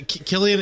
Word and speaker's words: Cillian: Killian. I mispronounced Killian as Cillian for a very long time.